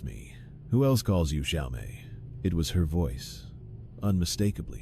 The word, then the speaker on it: Xiao Mei: Who else calls you Xiaomé? It was her voice. Unmistakably her, with a slight accent, warmth, and emphasis on the second syllable of my nickname.